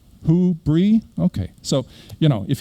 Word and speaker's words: Whobrey: in different ways it's it's actually fairly easy it's uh w-h-o question word who and then cheese yeah who bree okay so you know